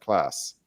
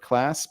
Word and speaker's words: Klaas: Christopher Ward that we believe the correct pronunciation is class. So like the word class, but with a bit of a longer A, so class.